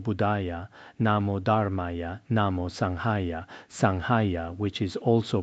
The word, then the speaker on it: Sangha: Namo Buddha, Namo Dharma, Namo Sangha, Sangha, which is also pronounced Sanjaya. I believe that when we recite it, it is better to use the Ga sound.